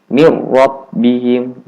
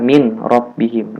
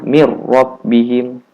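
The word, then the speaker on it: مِنْ رَبِّهِمْ: Maka dimasukkan mir rabbihim, jangan baca min rabbihim. Nah, itu salah. Cara bacanya mir rabbihim.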